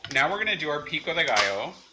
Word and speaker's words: pico de gallo: So, now we're gonna do our pico de gallo, which I'm anglicizing in its pronunciation. It's actually pico de gallo.